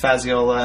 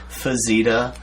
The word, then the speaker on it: Fazziola: Oh, yeah, just like, it's Fazziola, and I would get, Fazzita, or, Fazzola. Fazzola. Yeah.